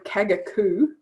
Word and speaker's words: Kagaku: other options um limbs and things or kyoto kagaku they do um i think limbs and things